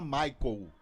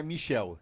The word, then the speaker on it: Michael: equipe do Guarani e fala Michael, não é Michel.